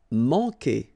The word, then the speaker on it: manquer: Manquer. Okay, remember when we get this Q after that, automatically we get this U, but then we don't pronounce the U, okay? So manquer. So it's really K, K.